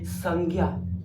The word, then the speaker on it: संज्ञा: बच्चों ज्ञ भाई बहनों ज्ञ का उच्चारण सबसे मोस्ट इंपोर्टेंट जानना जरूरी है जैसे बोलते हैं उच्चारण के लिए संज्ञा कौन कन ज्ञ ञ कैसे बना सबसे इंपोर्टेंट है ज प्लस य क्या मैंने बताया भाई